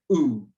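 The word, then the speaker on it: ου: We pronounce it oo, as in the English word group, oo. Again, don't pronounce it separately, o, oo, but one sound, oo.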